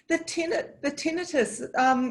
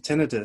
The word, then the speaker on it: tinnitus: The tinnitus, is that how you say it?